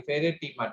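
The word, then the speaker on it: Pheretima: और जो अर्थ वॉर्म है इसका साइंटिफिक नेम है फेरेटीमा। फेरेटीमा that is ribbon like, फेरेटीमा पोस्टहुमा। पोस्टहुमा, POSTHUMA, फेरेटीमा, PHERE, फेरे। देखिए मैं फिर से प्रोनाउंस कर रहा हूँ, PHERE, फेरेटीमा, TIMA, टीमा, पोस्टहुमा, POSTHUMA।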